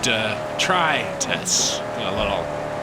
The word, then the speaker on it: detritus: of detritus. Which I think is probably detritus. A mild emphasis on the try.